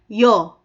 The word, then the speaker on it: ㅕ: At ang ipa-follow niya na sound is yung ipa-partner natin na Korean vowel letter, which is, sa case na to, is yo.